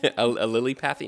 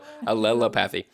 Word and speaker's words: allelopathy: No, I just thought it sounded like lily pad. A lily-pathy? No, Allelopathy.